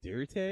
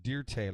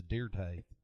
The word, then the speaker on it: Dirt: It's pronounced Dirte, like it's French. It's Dirte.